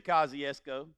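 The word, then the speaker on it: Kosciusko: is the only reason I know how to pronounce this word is because Oprah Winfrey is from there, Kosciuszko, Mississippi. Now let me explain something to you. If you've never been to Kosciuszko, don't get lost.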